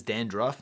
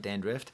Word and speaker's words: dandruff: Did you know that it's dandruff, not dandrift?